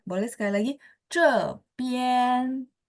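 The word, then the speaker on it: 这边: 边， Ya, nada 1. Jadi tidak naik. Nadanya datar ya. Boleh sekali lagi. Cepian.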